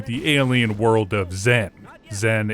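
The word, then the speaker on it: Xen: Zen is spelled X EN cuz aliens are hip and cool.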